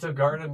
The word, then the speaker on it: Greindl: I'm your host, Greindl, and today it's a pleasure to welcome to Better Than Not, Martin Greindl.